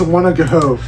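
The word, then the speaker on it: Wanogho: confuses me right here it goes w-a-n-o-h-o H is usually a silence in things just don't put the age pick your name just don't put the H yeah when you think you're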